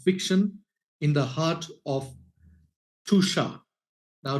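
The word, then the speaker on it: Tuscia: in the heart of tusha now tusha is actually spelled t s c i a but it's pronounced as t o o s h a so welcome Federica it's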